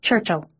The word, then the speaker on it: Churchill: He pronounced it without the I so it sounded like Churchill.